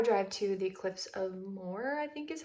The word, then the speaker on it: Moher: We just had a little breakfast and we're going to make the 3-hour drive to the cliffs of Moher, I think is how you say it.